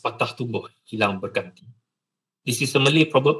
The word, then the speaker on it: patah tumbuh hilang berganti: It's pronounced patah tumbuh hilang berganti.